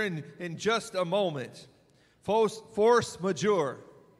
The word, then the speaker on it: force majeure: in just a moment Force Major and I did Google it that's the correct way that they pronounced it so by way of